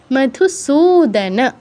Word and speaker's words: মধুসূদন: ঘ্নতোপি মধুসূদন, সুতে দীর্ঘ হবে। মধুসূদনও বলবো না, বা সুদন বলবো না, সুদন, মধুসূদন, সুতে দীর্ঘ, ন ফুল উচ্চারণ করতে